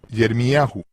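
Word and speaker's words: ירמיהו: En lugar de Jeremías en hebreo es Yermiahu con el énfasis en ya.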